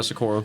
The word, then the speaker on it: Socorro: Yeah, Socorro.